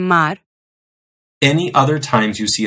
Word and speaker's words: mar: And at the ends of words or syllables. As in mar.